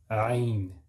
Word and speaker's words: ayn: Ay. Ay. That's not a, that's wrong. If you say a, that's not ayn. And it's difficult. If you're not an Arab, you might pronounce it as a.